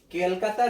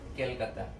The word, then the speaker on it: कोलकाता: A supreme court at केलकाता। Actually हमें pronounce करना है कोलकाता, लेकिन अंग्रेजों से कोलकाता प्रोनाउंस नहीं होता था अच्छे से, तो उन लोगों ने अपना कंफर्ट देखकर इसको नाम रख दिया केलकाता।